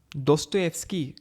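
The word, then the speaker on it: Достоевский: a Russian writer और इनका नाम दोस्तो एफस्की करके प्रोनाउंस होता है दोस्तों होता है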